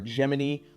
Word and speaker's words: Gemini: Uh, I'm a huge AI guy, so I use uh Gemini or Geminy, the correct way to say it, the NASA way.